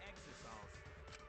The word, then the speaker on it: Exisal: Only we can pilot the Exisals. What? Really? It really is pronounced Exisal.